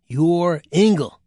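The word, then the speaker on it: Joringel: The little boy's name was Yuringel. You pronounce that Yoringle.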